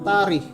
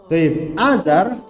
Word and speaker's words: Azar: azab sebagian buku terjemahan itu mengeja taraf dengan tarif ini keliru harusnya dibacanya taruh sebagai buku terjemahan nyebutnya tari ini keliru sekali lagi ini keliru Azar ayah Nabi Ibrahim Alaihissalam dikenal sebagai seorang tukang